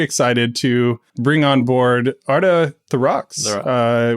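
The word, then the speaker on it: Orta Therox: to bring on board Arta the Rocks which I I believe I butchered correctly yeah that's that's perfect you got that just right thank you Jam Welcome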